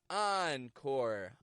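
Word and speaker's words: encore: sound for you here these are words that come into English from French and are spelled with the letters e n e n such as entrepreneur on treay oncore on rout ah on on now I'll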